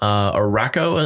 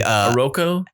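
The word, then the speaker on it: Arakko: Araco, am I saying it right? It's a Aroko? It's a anagram of Krakoa, so it's some sort of variation of those letters. I believe it's Araco, though.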